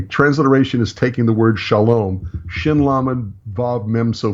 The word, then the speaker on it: Shalom: M in English and by saying Shalom by reading sha LOM I am pronouncing a Hebrew word shin Lama Bob mem